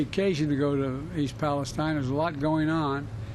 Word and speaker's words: Palestine: around the world huh he doesn't even pronounce it right it's Palestine the one here in America all around the world